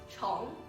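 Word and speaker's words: 虫: For example, the word worm or insect pronounced chong.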